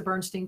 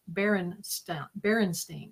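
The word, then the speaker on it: Berenstain: Now, if you look up the Bernstein Bears, and everybody remembers it as the Bernstein Bears, but now it's Berenstein. It's like there's an extra syllable in there.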